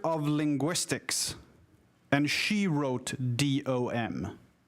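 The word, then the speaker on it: de: But it's pronounced, both of them are pronounced dom, D-O-M.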